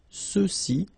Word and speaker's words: ceux-ci: Okay, remember final X is not pronounced, so you get the sound ce, ceux-ci, and then ceux-là.